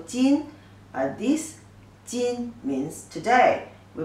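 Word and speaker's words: 斤: No, the measurement of weight, 500 gram, pronunciation is also jin.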